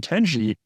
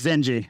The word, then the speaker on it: Zenji: yeah in effect and I think I mispronounced his name it's zenji I sorry I sorry